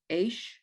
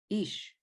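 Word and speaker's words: איש: Aish, Nope. Look at the uh, vowel. oh, E. Ish, Ish.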